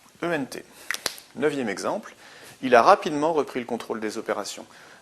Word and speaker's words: rapidement: Il a rapidement repris le contrôle des opérations. Rapidement, on a une prononciation en aimant, donc rapidement, R-A-P-I-D, E, un seul M et E-N-T.